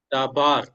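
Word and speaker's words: דָּבָר: So you have to stress that syllable when you read dabar dabar. Okay. So the stress is given to the last syllable.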